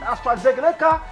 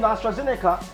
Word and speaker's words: AstraZeneca: been treating ourselves with astra zeglecka vasin astrazeneca that's the right pronunciation vaccine brought in from